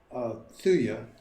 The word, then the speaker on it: thuja: The magic quality of the eastern white cedar, Latin term thuja or thuya, could be the other pronunciation.